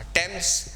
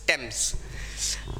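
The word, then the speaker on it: Thames: टेम्स जान है यार लंदन की, जिसको लोग थेम्स भी बोलते हैं, बट द real pronunciation is टेम्स.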